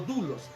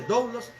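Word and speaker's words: δοῦλος: Algunos la leen como dulos. No se puede leer dulos porque el griego no se puede leer igual que el inglés. El griego se lee como es y se escribe doulos, y a su siervo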